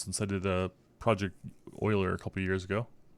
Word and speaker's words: Euler: It's been a while since I've had to mess with primes, since I did a Project Euler a couple years ago.